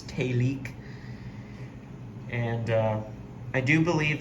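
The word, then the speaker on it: Télic: by a company called telek which is spelled t e l i c and the E has the little uh accent over it so it's talik and uh I do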